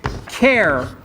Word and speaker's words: char: there's also a type called care or car and as you can imagine it's because we like sort of the first syllable of most things and this is the first syllable of character okay and so we'll